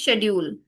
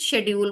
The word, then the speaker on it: schedule: There are two ways to pronounce it. Either you speak in British English or American English.